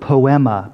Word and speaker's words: poema: The Greek word is the word poema, P-O-E-M-A.